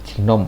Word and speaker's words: GNOME: Ini pilihan yang paling populer, ini ada KDE atau GNOME, ya tulisannya GNOME tapi bacanya GNOME ya, atau XFCE.